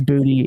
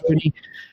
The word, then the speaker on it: Boutte: Kayshon Boutte, 75.5% of the routes, and yes, that is how you say his name. It is Boutte. It is not Boutte.